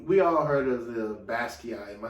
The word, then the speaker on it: Basquiat: I know, we all heard of the Basquiat. Am I saying it right? Basquiat, man.